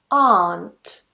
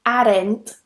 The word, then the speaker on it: aren't: Another one, and a very common one, aunt. Aunt. Now here I hear a lot of students saying arent or arent.